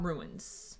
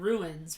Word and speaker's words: runes: And now we start to learn about runes. Runes. You hear it when you say it, right? Do you hear it when you add the syllable? You hear the difference between runes and ruins, right?